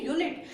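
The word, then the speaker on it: unit: लेकिन गाइस इसको प्रोनाउंस कीजिए, ये अनिट नहीं है, ये है यूनिट।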